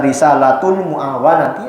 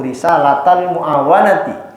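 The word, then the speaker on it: رسالة المعاونة: Risalatul muawanati atau risalatal, ini bacanya bisa risalatul muawanati atau risalatal muawanati wal mudhaharati wal muazarati liraghibina minal mu'minina fi suluki tariqil akhirati.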